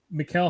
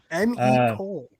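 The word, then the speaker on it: Mecole: Did you just correct the way I pronounced the French name? It's not French. His name is Cole. Yeah, go burn some more sage, man. You're I can't even see your eyeballs. M.E. Cole. Paris Campbell.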